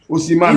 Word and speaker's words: Osimhen: Osimhen. Il a la photo de quelqu'un là sur son profil. Laissez-le. Je vous ai dit, laissez-le, non? Voilà. Osimhen n'est pas là, son Osimhen est là.